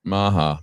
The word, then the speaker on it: MAHA: It rhymes with MAGA. MAHA.